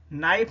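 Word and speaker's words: knife: नाइफ में हम सभी जानते हैं के साइलेंट रहता है, तो के को तो आप छोड़ दीजिए।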